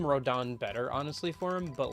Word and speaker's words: Rodin: his name is spelled like Rodin but it's pronounced rodon like I I like the name rodon better honestly for him but like it does